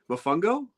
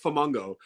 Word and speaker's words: Mofongo: pronunciation I don't know Mofongo yeah you know I called it fomango yes uh yeah so we got Mofongo which is not flamungo uh yeah we got